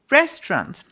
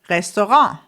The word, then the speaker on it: Restaurant: Restaurant. Restaurant. Restaurant. So I'm from Austria. In Austria, as you maybe hear, we actually use the French pronunciation for this word.